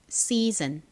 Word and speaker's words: season: 여기서 s는 좀 세게 쌍시옷 소리처럼 발음이 되고요.